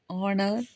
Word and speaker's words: honor: So, words like are, honor, honest, honorable, honorarium, heir, heirs, etc. start with the consonant letter H. We use an before them because the H is silent, so they start with a vowel sound.